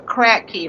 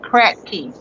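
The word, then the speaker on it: Kratky: Yes, those systems are called the crack key. Like I was saying, K R A T K Y. I think that's how you spell it. But crack key.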